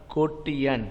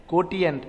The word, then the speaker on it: quotient: got get the answer it's called a ko tian what kotian or quotient okay question is also proper is a proper pronunciation and kotien is also proper pronunciations okay and outside the